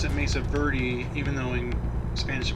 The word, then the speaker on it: Mesa Verde: the Mesa Verde National Park, and we do pronounce it Mesa Verde, even though in Spanish it would be Verde.